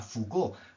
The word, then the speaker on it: Foucault: que eh yo también He descubierto tardíamente que se pronuncia foucault porque la facultad ha